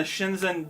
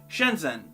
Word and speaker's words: Shenzhen: i'm saying this properly how do you say it what's that doing there can you just ignore the h spoiler warning you can't which is why i'm definitely saying this wrong is its own sound in chinese we don't have to